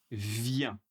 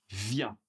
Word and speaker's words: viens: Je viens. Tout va bien. Super. pour tu viens. Tu viens encore une fois on ne prononce pas le S pour la troisème personne.